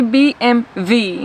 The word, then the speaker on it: BMW: is BMW b m we don't even say we say BM V in Sp Spanish I don't know why